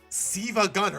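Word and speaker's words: SiIvaGunner: Apparently, Siva Gunner, as I've learned it's now pronounced, actually asked Sonic and Eggman a question.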